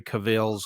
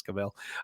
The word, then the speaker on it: Cavill: scenes that henry cavill cavill for those of you who pronounce it that way but i believe it's cabell um he he had